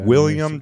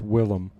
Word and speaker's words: Willem: Right. It's Willem. And then I think it was Willem.